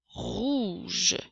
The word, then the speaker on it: rouge: Alors, le son R s'écrit avec la lettre R. Le son OU, je crois que tu l'as compris, s'écrit avec les lettres OU. Et le son J s'écrit avec les lettres G et E.